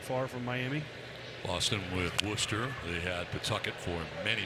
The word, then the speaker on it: Worcester: But yeah, it's Worcester. Isn't there an R and a C and an H and all these weird letters in there that you're not saying? That doesn't mean anything. That's how they say it.